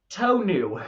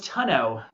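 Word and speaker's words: tonneau: So t o n u to new is how you say that. I thought it was tunno. It's not tunno is a cover on your on your truck.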